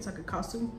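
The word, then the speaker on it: sake kasu: The serum will revive and rejuvenate your skin with ingredients like vitamin B3 and sakekasu. That's how you say it, sakekasu.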